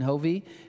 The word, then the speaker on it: Hovey: Rhymes with Van Jovi. Okay, Hovey, Dr.